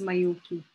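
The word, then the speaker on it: Majocchi: So it's pronounced as Mayoki.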